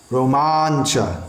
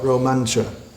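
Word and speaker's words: रोमाञ्च: Romancha, not Romancha. Common mispronunciation.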